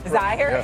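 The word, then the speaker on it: Zeier: Zaire Yeah.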